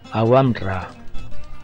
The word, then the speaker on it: Aouamra: se llama agua mar agua amara le digo yo ellos pronuncian aguanta aguanta o algo parecido del óleo tal como